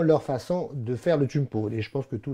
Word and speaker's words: Kouign Pod: Alors, chumpote, hein, on prononce chumpote, donc c'est le mot queen, hein, K-O-U-I-G-N, queen pot, qui est le sens de gâteau.